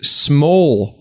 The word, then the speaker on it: smol: My 2 minutes of hate this week is smol culture. That's right. You may have noticed I said the word small wrong. Yeah. Because it's spelled like I noticed that, yeah. SMOL.